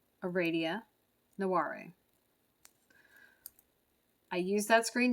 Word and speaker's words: Aradia: you were paying attention, but Aradia and Naware both have a ray in them, right? Not the same spelling. One is R-A, the other one's R-E, but that's how those words are pronounced.